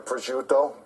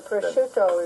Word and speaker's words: prosciutto: And you want to throw in your prosciutto.